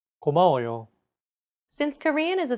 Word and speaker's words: 고마워요: 고마워요. 고마워요. Each syllable is pronounced for an equal amount of time. 고마워요.